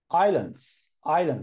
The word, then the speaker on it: island: So islands. So here we don't pronounce S. S is silent.